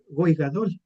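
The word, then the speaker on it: גוי גדול: Significa goigadol. Eso significa eso así se pronuncia en el hebreo, que significa que significa nación grande.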